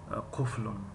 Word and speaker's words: قفل: ما تاجیکان گاه قلف تلفظ میکنیم. شکل درستی کلمه قفل است. قفل در اینجا نوشتیم، یعنی گاه ما قلف تلفظ میکنیم، قلف، لیکن وای قفل است.